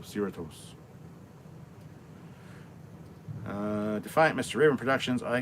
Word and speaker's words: Cerritos: I would say Cerritos, and people are like, oh, that's not how you pronounce it. It's like Doritos, so Cerritos.